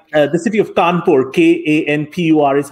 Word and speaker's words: Kanpur: when India had various, like the city of Kanpur, K-A-N-P-U-R is how we spell it now, was a British garrison and they spelled it Kanpur, C-A-W-N, P-O-R-E.